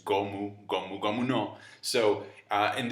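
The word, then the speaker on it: ゴム: Now usually Luffy's number is 56 because 5 is Go and 6 is Mu. Like that's how you can pronounce it in Japanese. So it's Gomu, Gomu, Gomu no.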